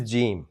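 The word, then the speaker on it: جیم: This is gimm the seventh letter of the Udu alphabet. It rhymes with dream and it sounds like the English letter J like J for jug.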